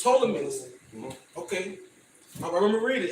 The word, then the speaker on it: Ptolemaeus: Yeah, the P is silent, so it's Ptolemaeus. Ptolemaeus.